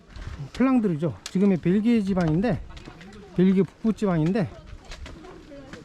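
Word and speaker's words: Flandre: 하고 가겠습니다 그걸 이제 플랜더스가 이제 영국식 발음이고 불어 바르면 플랑드르죠 지금의 벨기에 지방인데 여기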